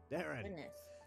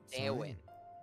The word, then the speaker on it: Darwin: bad penguin Knight Ranger it's D sir Darren oh not not Darren oh D Darwin Darwin not Daren why everybody say my